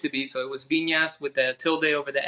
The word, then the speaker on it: Vinas: Vinas?